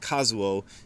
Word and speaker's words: Kazuo: So these characters would normally be pronounced Kazuo.